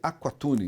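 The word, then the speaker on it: Aqualtune: galo não há cultura mas fala-se aquatune a 41 a pronúncia é quase um ele mudou é quase um ele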